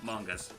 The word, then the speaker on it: manga: Yeah, his debut was in a manga, or as the good old folks in Japan call mangas. It is mango. it is pronounced manga.